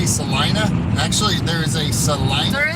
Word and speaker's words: Salina: pronounced Selena also but they pronounce it over here in Kansas Selena yeah say you tells